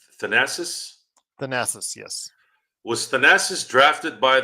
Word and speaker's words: Thanasis: How do you pronounce Giannis's brother's name? Thanasis? Thanasis, yes.